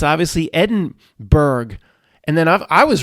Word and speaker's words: Edinburgh: It's Edinburgh. Berg. I said, what? He said, well, Matt, we got Pittsburgh. We got Harrisburg, Pennsylvania. It's obviously Edinburgh.